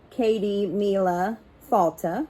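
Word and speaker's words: Céad míle fáilte: Patrick's Day now to pronounce Katie Mila falta which is also gaelic for a hundred thousand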